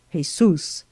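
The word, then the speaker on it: Jesús: that his name was jesus pronounced in spanish jesus h-e-z-o-o-s by which latter appellation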